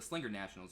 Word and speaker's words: Slinger Nationals: He was out at the Slinger Nationals the Slinger Nationals, right?